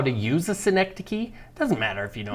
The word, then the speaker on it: synecdoche: squinting, Synecdoche.